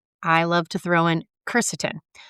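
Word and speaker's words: quercetin: Now, additionally, I love to throw in ceretin. Keretin is spelled with a Q. Q U E R C E T I N.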